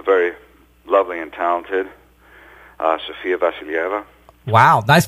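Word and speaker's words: Sofia Vassilieva: yeah um the very lovely and talented uh sfia vasila wow nice pronunciation there by the way uh it took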